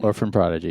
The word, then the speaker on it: Orphan Prodigy: Orphan Prodigy.